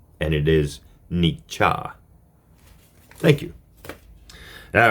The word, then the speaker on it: Nietzsche: in the pronunciation of his name I was pronouncing it incorrectly as nii and it is Nia thank you all right now for part four